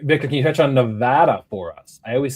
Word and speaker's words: Nevada: All right, Victor, can you touch on Nevada for us? I always say it wrong. Nevada. Nevada. Nevada. Not Nevada. They'll kill you for that.